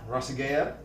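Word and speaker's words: Ragusea: I will call that I've stolen from Adam rasiga that's how you pronounce his last name YouTube guy oh man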